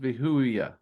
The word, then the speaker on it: Vehuiah: Which I have always heard it pronounced Vehuiah or Vehuiah. That's how Vehuiah. Um, so let's go ahead and get that up here as I say it, Vehuiah. If you see how it's broke up there, Vehuiah. That's how I pronounce it.